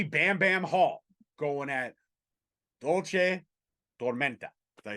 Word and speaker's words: Dulce Tormenta: Bambi Bam Bam Hall going at Dulce Tormenta.